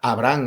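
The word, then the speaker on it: Abrahán: sale a recibirlo Abraham, Abraham, acabado en N y con acento en la en la última.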